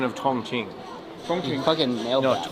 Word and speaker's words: Chongqing: I would like to say we are loving Chongqing. Oh, great pronunciation. Thank you. I'm working on it. It is great. My pronunciation of Chongqing.